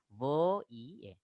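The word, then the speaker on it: voyelles: Double L, here it is not pronounced, and ES ending not pronounced. So le voye.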